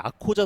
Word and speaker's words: Akkoca: 이 아코자 선수가 그 튀르키예에서는 C가 우리나라 지읒 발음이거든요.